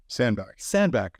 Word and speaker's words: Sandbach: Sandbach.